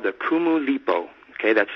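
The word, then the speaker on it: Kumulipo: led me back to a story called the kumu lipo okay that's spelled k-u-m-u-l-i-p-o and what's funny is that in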